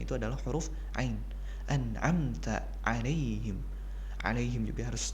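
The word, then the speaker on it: عليهم: adalah huruf Ain anta alaihim ada yang juga harus diperhatikan di provinsinya jangan sampai menjadi ngalaihim Hay Day Hay Day I will now be alaihim ghoiril Khoir Khoir nah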